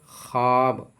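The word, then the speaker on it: خواب: देखिए यह वाव लफ्ज में लिखे होने के बावजूद पढ़ी नहीं जाती है। यानी लिखावट में यह वाव मौजूद रहती है, लेकिन पढ़ी नहीं जाती है। जैसे ख्वाब, ख्वाहिश, खुश खुर्शीद।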